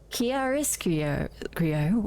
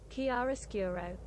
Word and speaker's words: Chiaroscuro: Pronunciation. Chiaroscuro. Oh, that's a hard one to say. Chiaroscuro.